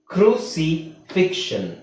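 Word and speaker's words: crucifixion: ಫ್ಲೆಕ್ಷರ್ ಫ್ಲೆಕ್ಷರ್ asexual bisexual ಈತರ ಬಂದಾಗ ಅದನ್ನ ನಾವು x ದು ಸೌಂಡ್ ಸು ಅಂತ ಹೇಳಕಆಗಲ್ಲ ಫ್ಲೆಕ್ಸರ್ ಫ್ಲೆಕ್ಸರ್ ಅಂತ ಹೇಳಕಆಗಲ್ಲ ಎ ಸೆಕ್ಷುವಲ್ ಅಂತ ಹೇಳಕಆಗಲ್ಲ ಸೆಕ್ಷುವಲ್ ಫ್ಲೆಕ್ಷನ್ ಕ್ರಸಿಫಿಕ್ಷನ್ ಅಂತನೆ ಹೇಳಬೇಕು ಓಕೆ ಅರ್ಥ ಆಯ್ತಲ್ಲ ಸೋ ಇದರಲ್ಲಿ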